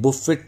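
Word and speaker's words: buffet: खाने होते हैं, उसे बूफे कहते हैं। बुफेट लिखा होता है, टी साइलेंट होता है, बूफे, ठीक है।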